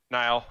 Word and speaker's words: Niall: I almost pronounce it like a Y, like a N-J-Y. N-J-Y. Niall. I know it's Niall, but my brain immediately wanted to go like Niall.